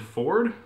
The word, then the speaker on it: Fjord: Travis Willingham is playing a half-orc named Ford. For some reason, there's a silent J after the F, so it's spelled like Fjord, but apparently it's pronounced Ford.